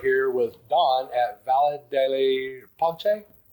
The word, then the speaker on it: pace: ce obviously is in Spanish it's pace which means peace and it means peace in Italian too, but it's pache pate. It's more of a ch sound than a, you know, the c sound.